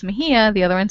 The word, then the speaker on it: Mexia: And I can tell it fairly quickly, about a town in Texas called Mejia, and it's spelled Mexia.